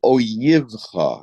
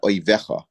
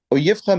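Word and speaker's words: אויבך: It says, Binfol oyivcha. It's a very funny way of pronouncing it, but it is spelled out. That is the correct pronunciation. Not oivecha, but oyivcha.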